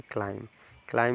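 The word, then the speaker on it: climb: रहा है कि नहीं बी के तुरंत बाद अगर आपके बी से पहले एम मिल जाए या बी के बाद टी मिल जाए तो बी साइलेंट हो जाता है तो बी हमारा क्या होता है साइलेंट लेटर तो यहां पर देखिए बी के जस्ट बी के जस्ट पहले एम है ना तो बी आपका साइलेंट हो जाएगा जब बी साइलेंट इसको क्या पढ़ेंगे सी एल आई आई एम को पढ़ेंगे क्लाइम क्लाइम मींस चढ़ना क्लाइम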